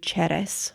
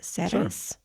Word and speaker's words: Ceres: So basically, there was a Roman temple to Ceres or Sure. Ceres. I don't know how to say her name. So, Ceres, I think is what we say in English.